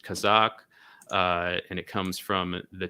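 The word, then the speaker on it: казак: region we're talking about in russian it's pronounced kazakh and it comes from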